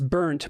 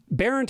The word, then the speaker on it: Barrent: barrent oh wow yes people have pronounced it as burnt my whole life which also has a certain ring of truth to it but um berent is good that's that's solid but burnt